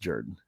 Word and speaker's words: Jordan: history of Auburn football you would have no idea that is pronounced Jordan yeah I mean sometimes